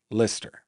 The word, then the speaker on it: Leicester: Let me tell you the reason I know how Lister is pronounced.